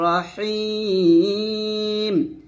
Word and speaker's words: রহিম: এভাবে আজি আজির রাহিম নট রাহিম রাহিম বলবেন না রহিম বলবেন মোটাম এরকম আবার এটা